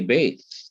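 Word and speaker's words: ב: in the consonant Veth, we say Beth, and Yes. we pronounce it as a B, not as a V.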